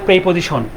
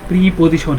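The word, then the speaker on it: preposition: আচ্ছা এরপর আছে হচ্ছে প্রেপজিশন। এটার উচ্চারণ হবে আপনার আমরা অনেকে বলি যে হচ্ছে প্রি প্রিপজিশন। কিন্তু আসলে এটার উচ্চারণ প্রে অর্থাৎ এক কার আসবে।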